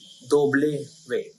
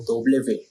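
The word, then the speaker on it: doble ve: वे डब्ल्यू का sound होता है दोबले वे। क्योंकि वी डबल है तो दोबले वे।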